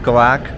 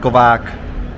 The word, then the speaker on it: KovaaK: What's the correct pronunciation? For me, it was always like KovaaK. That's close enough. Yeah. I've always just said KovaaK. Even Rafa says KovaaK. So, Yeah. it's all over the place.